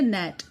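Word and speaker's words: gnat: जैसे एग्जाम्पल दे रखा है नैट, इसमें हम जी की साउंड नहीं बोलेंगे, हम इसको बोलेंगे नैट। तो जैसे यहाँ जी साइलेंट है नैट वर्ड में, ऐसे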